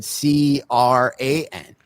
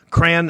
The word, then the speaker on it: crayon: Justin said CRAN. Crayon. Yeah, hold on. I'm gonna look up something now. It's 2 syllables. It's not 1 syllable. Crayon is 1 syllable. Crayon, 2 syllables.